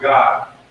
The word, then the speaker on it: Gad: The first one is Gad, or God. It's actually pronounced God in Israel.